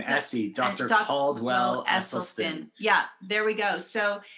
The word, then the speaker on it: Esselstyn: even say it right name essie dr caldwell esselstyn yeah there we go so you know when